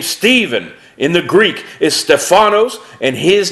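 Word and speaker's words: Στέφανος: Deacon the name Stephen in the Greek is Stefano's and his name means crowned the name Philip is Greek pronounced philipose and his name means lover of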